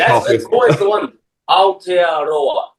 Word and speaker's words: Aotearoa: loud, so I'd have no idea how to pronounce it. Is it Oratoria? Aotearoa.